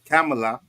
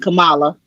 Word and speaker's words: Kamala: is man I keep saying it wrong cam camela Harris all right Kamala Kamala Cala thank you very much Kamala camela